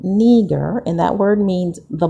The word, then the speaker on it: Niger: Now I know typically or traditionally we were taught that this is Niger, called Niger, but it's pronounced, when you look at the breakdown of the word, it's called Niger, which many believe is the original word that